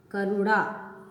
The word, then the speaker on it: करुणा: इसके बाद करुणा, करुणा नहीं करुणा, तो अणा किसको बोलते हैं? टाठा डाठा अणा वाले को प्रोनाउंस करते हैं हम ना, करुणा।